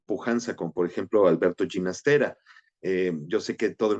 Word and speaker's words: Ginastera: en Nueva York y el anunciador dice Alberto Ginastera y el compositor mismo le dijo no, se pronuncia Ginastera. Así que bueno, yo siempre trato de decirlo así, aunque para efectos prácticos es ginastera para todos.